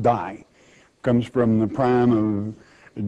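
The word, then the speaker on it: δεῖ: it's the word must it's really a little three-letter greek word dei pronounced die comes from the prime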